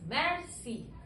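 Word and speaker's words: merci: want to thanks someone how will you से मैक्सी इट्स मैक्सी एम ई आर सी आई मैक्सी okay next to introduce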